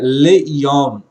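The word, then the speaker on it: לְיוֹם: A expressão aqui é leyom. Leyom significa para o dia. Aqui é uma preposição. Então observe que a letra lamed com o sheva aqui ele está sendo pronunciado. Le.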